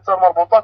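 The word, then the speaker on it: تاء مربوطة: se termine avec tamarbota, on va prononcer tamarbota comme si A, le fatha ou bien normalement hamza. Ça nous donne un petit peu l'équivalent de A en français ou bien H.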